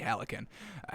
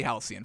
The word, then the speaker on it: halcyon: peaceful absolutely that absolutely helicon alex and the hell do you pronounce this halcyon definitely halcyon folks all right halcyon days of pure joy